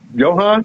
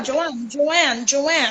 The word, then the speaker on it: Johan: Am I saying it right? Johan? Yeah, Joanne. Oh, Like Joanne.